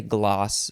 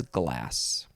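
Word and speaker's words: demi-glace: glass is spelled g-l-a-c-e I would maybe want to say gloss but it says glass noun from 1900 a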